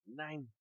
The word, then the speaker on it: Nein: It looks like it's the word nine, but like the way a German would say it. Nein.